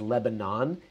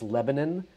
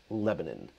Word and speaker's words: Lebanon: Lebanon, however, is close enough that I want to make sure that you don't actually accidentally refer to it as Lebanon. It's Lebanon, Lebanon.